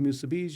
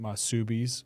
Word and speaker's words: musubi: So if I've been pronouncing it Masubis up to this point in time in my life, You're a little off. Musubi.